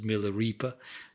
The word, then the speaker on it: Milarepa: So Milarepa, often pronounced as Milareepa, was known even to hippies.